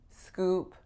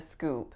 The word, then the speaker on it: scoop: fooled some people but my intention was really to say did you hear the scoop scoop with a pure o versus a native speaker would say it with more of a diff thong IED o did you hear the